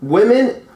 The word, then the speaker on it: women: Women, woman.